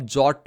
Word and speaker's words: JWT: parties and इसको आप जॉ भी बोल सकते हो ठीक है इसको आप जट भी बोल सकते हो बहुत सारे लोग इसी तरीके से इसको प्रोनाउंस करते हैं एंड अनलाइक इंक्रिप्शन